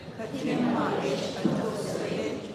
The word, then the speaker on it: Fatima ish atuksale: Just remember, like I said, if you're having trouble saying it, just break it down into syllables. Ta, tim, ma, ish, a, u, sa, li. And then just slowly, gradually put it all together.